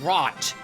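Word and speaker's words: HROT: I think you pronounce it Rot, but it's spelt H-R-O-T.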